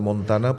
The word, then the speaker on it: Montana: El estado de Montana, pues es montaña, pasa que la ñ no la pronuncian, ¿no?